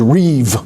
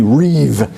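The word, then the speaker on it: ריב: gone this word is Reeve r-a-b or RI it's pronounced like a v r i v Reeve and notice they will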